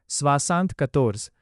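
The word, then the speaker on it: soixante-quatorze: French में 60 को स्वासांत बोलते हैं और 14 को कतोर्ज बोलते हैं। इसीलिए 74 का ओरिजिनल फ्रेंच में प्रोनाउंसिएशन होगा स्वासांत कतोर्ज।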